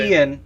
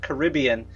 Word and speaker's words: Caribbean: Caribbean is how it's supposed to be pronounced. Caribbean is just the common vernacular for it.